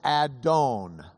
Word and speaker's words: adon: It was a word that in Hebrew is adon. Adon. Say it. Adon. You can add I unless you're Ashkenazi in which you'd add oi to the end and you could say adoni